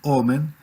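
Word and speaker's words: אֹמֶן: tutor educador o nodriza y omen la misma palabra pero acentuada distinta omen es fidelidad fidelidad sí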